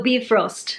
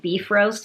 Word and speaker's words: Bifrost: actually pronounced it so be frost right I think it's pronounced like that but every time I say that I think I've been knit more girls calling it beef roast like beef roast and that